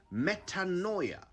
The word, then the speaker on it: metanoia: Here's a word you probably never used before: metanoia. I'll spell it: Metanoia.